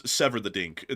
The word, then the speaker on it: Severodvinsk: the Sevmash shipyard in Severodvinsk if I'm pronouncing that correctly. Basically it's Severodvinsk. That's the that's the name of the city if I was to like bastardize it into English but I'm trying to do my best here.